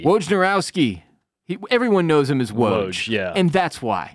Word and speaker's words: Wojnarowski: Wojnarowski. Wojnarowski.